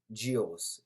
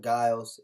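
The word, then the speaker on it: Gilles: wrong um which was vanessa gios not guiles jio's corrected by the announcer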